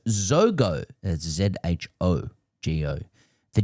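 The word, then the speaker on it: Jogo: Yogo Benito is pronounced Zogo. That's Z-H-O-G-O. The J in Yogo sounds more like the S in treasure than it does the Y in the forbidden custard of my school days.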